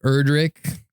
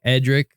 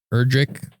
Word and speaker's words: Erdrick: It's actually like Erdrick, not necessarily Edric. It's Erdrick.